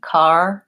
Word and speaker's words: car: So really, car, car. I'm not spending a long time on this vowel. So it's not car with a long ah. I touch on that vowel very quickly and move on. So car. If I had an O that you asked about, that would be this word core. So that's a good contrast that will help you here. Car versus core.